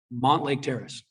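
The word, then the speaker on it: Mountlake Terrace: I grew up on Rose Hill, and we always said Montlake Terrace. We said Mount Lake like it was Mont Lake.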